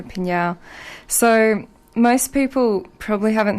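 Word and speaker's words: PNAU: They're called Pinyao, another band that if you see it spelt, you can't say it. P-N-A-U. Yeah, in capitals. And if you want to remember how to say it, just think of meow, or you can just go Pinyao.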